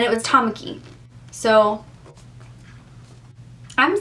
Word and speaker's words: Tamaki: pronunciations online too because I've heard Tamaki and I've heard too pinky or Tamaki I feel like it's Tamaki because that's I'm thinking of like or on host club and it was Tamaki so I'm saying Tamaki